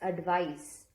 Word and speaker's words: advice: pronounce these two words advice with a c is pronounced as s advice and advice with an